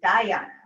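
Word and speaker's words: dhyana: i'll tell you about that so da harana is spelled d-h-a-r-a-n-a daharana so that's the sixth lane the seventh limb is diana that's n d-h-y-a-n-a and that means meditation and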